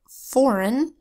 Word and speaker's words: foreign: syllables for example in the word foreign you'll hear the e I making a short I sound it because that's one of the sounds of an unstressed vowel sometimes it sounds like